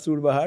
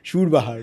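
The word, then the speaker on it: surbahar: Pronounced Shurbah perfectly. Not Surbah. He said Shurbah very yes absolutely.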